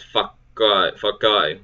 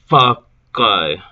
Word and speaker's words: fakai: On other islands in the Ellis group, the second syllable is elided, and the word becomes fakai, with the K held for the time it takes to pronounce the other.